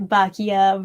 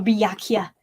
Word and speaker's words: Byakuya: Fat Bakia versus skinny Bakia. Oh, Byakuya. It's a hard name to pronounce.